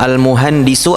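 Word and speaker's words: المهندس: Almuhandisu artinya insinyur. Mumtaz. Bacanya almuhandisu begitu ya.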